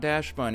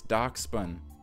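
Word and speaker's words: Dachsbun: to almost $30 so oh no I said it wrong it's not Dash buun It's doc spun you know who you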